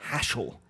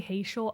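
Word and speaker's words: Haschel: look at hashel's armor hashell hashel or haiti i've heard people say hatial i don't agree with that pronunciation at all hashell is a cool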